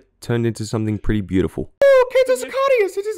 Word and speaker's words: Sicarius: Is it pronounced Sicarius or Sicarius? Sicarius!